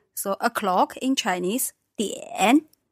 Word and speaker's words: 点: So third tone for this one, 点.